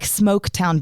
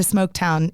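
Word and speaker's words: Smoaktown: And it's not spelled like smoke, like typical.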